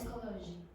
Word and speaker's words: psychology: Uh the next thing and this the last thing actually don't pronounce P at the beginning of words that begin with PS. So, how do you pronounce psychology?